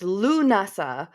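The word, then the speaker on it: Lughnasadh: Uh, I later read it's pronounced Lunasa, but I think many witches prefer to say Lamas because it's for because of its forgiving lack of Celtic consonants.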